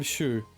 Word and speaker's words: Shu: I'm Shu. The U is silent.